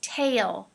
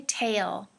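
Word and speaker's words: tale: deeply okay two words the first word is tail tail be careful of the a sound is very long okay tail all right and the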